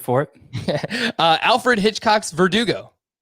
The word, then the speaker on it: Verdugo: it uh alfred hitchcock's verdugo like vertigo i mean that's how i thought you pronounced his name at first was vertigo so it would work better if that was actually the pronunciation but that's fine last